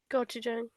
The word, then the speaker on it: Gochujang: Gochujang. Yeah, there you go. I love how you let her like kind of pronounce the word first before you even be